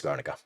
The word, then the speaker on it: Guernica: I would say I always forget how to exactly pronounce it. Masterpiece by Pablo Picasso. Is that Guernica? Guernica. It is Guernica.